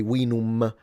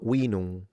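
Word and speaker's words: vinum: Note that the M is nasalized in classical. So, you don't say winum, which is another characteristic that it's kind of difficult for modern Italians because we do have the tendency of fully pronouncing the M that way, but in Latin it's basically a nasalized sound.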